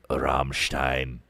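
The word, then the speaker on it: Rammstein: The entire record actually sounds like Rummstein. Rummstein. Is that how you pronounce it? Ram Ramstein. Yes. There. There it is.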